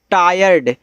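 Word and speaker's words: tired: ई आर Y very T आई आर ई डी अब देखो इसको पढ़ते हैं टायर्ड वो देखो आपका ट्राइड था उसमें था टी आर आई ई डी इंग्लिश देखो सब कुछ वही है बस स्थान चेंज है आई इधर कर दिया यानी कि आई जो है बस आर के बाद कर दिया तो वहां पे अर्थ भी चेंज हो गया और पढ़ने का तरीका भी चेंज हो ए आपका टायर्ड है।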